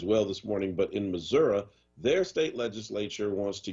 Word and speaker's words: Missouri: all know out here philly it is not pronounced missouri it is pronounced missouri and uh go to missouri and they will